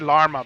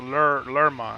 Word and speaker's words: Lerma: I said Larma before, but it's a Lerma. I think it's how you say it.